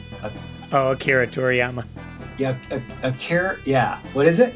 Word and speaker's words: Akira Toriyama: Akira Toriyama. Akira. Yeah. What is it? Akira Toriyama. Akira Toriyama. Yes. Akira Toriyama, also known for Dragon Ball and Dragon Ball Z.